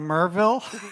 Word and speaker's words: Maryville: recorded the sound layer down in merville what where down in Maryville I understand if you're you know not from around here yeah if you're not from around here well that's the way it's spelled doesn't mean that's the way we say it yeah but um so